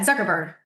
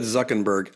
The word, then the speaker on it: Zuckerberg: the most recent is actually involves um Mark Zuckerberg who I don't Zuckerberg. Yeah, Zuckerberg. Did I say I'm sorry. I'm sorry. I thought you said Zuckenberg.